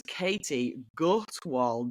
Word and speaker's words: Katie Gutwald: It is Katie Gutwal joining the podcast. I hope I have an absolutely hashtag pronunciation of your name.